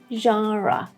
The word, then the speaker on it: genre: We have a J sound here, genre. Again, there is a schwa here at the end, which should be heard when you say it.